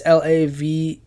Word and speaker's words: Laveau: I might be saying her name wrong, Laveau. It's Laveeau. Now, Marie Laveau was born